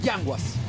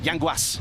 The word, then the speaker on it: Yanguas: Yanguas. Yanguas. Yeah, okay. Because the S is with S, it's no sh. No sh. Yanguas.